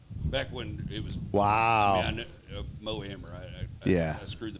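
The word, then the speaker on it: Mo Amer: and mo Amir back when it was wow Mo ammer I screw the pronunciation of it it's all right which is weird cuz back then we all called him moir everybody called him that and now like were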